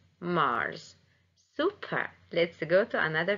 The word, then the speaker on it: Mars: And pay attention also, the S in Mars is pronounced as Z, Mars, Mars.